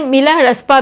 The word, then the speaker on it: मिलारेपा: धोखा और प्रतिशोध से मिलरेपा शब्द का उच्चारण तिब्बती भाषा में मिला रसपा भी होता है मिला उनका कुल नाम